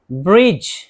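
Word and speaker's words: bridge: ब्रिज, ब्रिज, pull.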